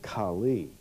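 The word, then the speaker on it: Kale: For example, the word Chaldees in the Ur of the Chaldees, Chaldees in the modern dialect in Turkey is K-A-L-E, pronounced Kali or Kali.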